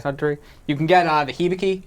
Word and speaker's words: Suntory: How do you say that? Centauri. Suntory. Okay. Suntory.